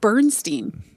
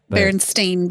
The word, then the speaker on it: Berenstain: Why are you saying it Bernstein? Because that's the improper spelling. Because I feel like it was always said Berenstein Bears. okay, maybe there's an extra syllable, but people think it's spelled with an Stein, and it was spelled Stain. Berenstain Bears. Yeah, the Baron. So I was just saying burn. I was dropping an E, but my point remains.